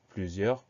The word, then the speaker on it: plusieurs: eux qui s'écrit eu1 ont fait attention à la dernière lettre muette le s plusieurs pl us et eu